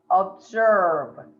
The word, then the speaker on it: observe: It's not an S sound at all. Mm. It's a Z sound. Okay. Observe.